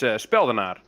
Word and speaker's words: Speldenaar: It's Speldenaar. That's how you pronounce it in Holland.